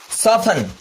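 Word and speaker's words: soften: Third one इज सॉफन।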